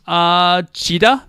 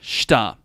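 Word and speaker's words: した: Anyway, chida, that's wrong. That's not how we pronounce this. Shida, no, not shida. Chita, nope. Number 4, shita.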